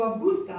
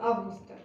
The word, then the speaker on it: Августа: Я говорю августа, а правильно августа.